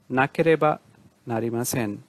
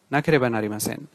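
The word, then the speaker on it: なければなりません: উচ্চারণটা আবার বলছি, নাকেরেবা নারিমাসেন, নাকেরেবা নারিমাসেন।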